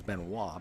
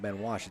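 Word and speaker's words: Wach: I thought it was Benoit. Ben Wash, W-A-C-H.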